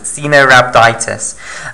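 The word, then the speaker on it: Caenorhabditis: no skin cena rhabditis i think it's that's how you pronounce it xenorabiditis okay cena rhabditis elegans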